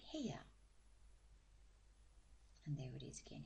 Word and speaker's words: 部屋: We put it together with he, and we get heya.